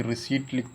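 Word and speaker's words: receipt: P silent रहता है इसमें।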